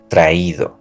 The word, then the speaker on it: traído: to the past participle, we have to add a tilde to the I. So we're going to say leído, oído, traído. We're going to write the tilde and we're going to stress that syllable.